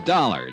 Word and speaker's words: Dollar: It's dollar. Johnny dollar. Dollar. Huh? Yeah. It rhymes with color.